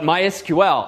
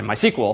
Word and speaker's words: MySQL: called MySQL once and they do in fact pronounce themselves uh my SQL not my SQL which frankly I find silly it's a lot faster and fewer syllables to say my sequel but uh it's their